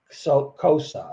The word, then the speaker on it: Xhosa: out that the wakandan language is basically salt Cosa I think it's pronounced it's spelled xhosa which is an African language